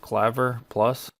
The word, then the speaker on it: Clavier+: use a program called I believe it's pronounced Claver plus and and I always